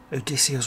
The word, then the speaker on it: Odysseus: he becomes jason he becomes odysseus yes it's pronounced odysseus or this house okay those coming from um